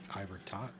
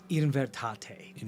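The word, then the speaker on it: Invertaté: The Ivertot? Invertate. In Virtat. Invertate. For your helpful to know how to spell it, because I was looking through Noel's notes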